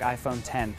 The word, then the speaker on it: iPhone X: It looks like the iPhone X, but you say it like iPhone 10.